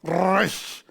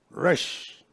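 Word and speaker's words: ר: The other is Resh. Resh. You see? Resh. You put your teeth together and you roll your tongue. Resh is the letter R. Resh.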